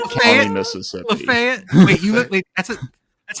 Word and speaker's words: Lafayette: It's spelled exactly the same, Thank you, Mississippi. but they call it Lafayette.